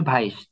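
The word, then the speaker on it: weiß: বলতে হবে সারস এরকম হচ্ছে কালো এটা হচ্ছে ভাইস ভে এ ই এসে ভাইস ভাইস মানে হচ্ছে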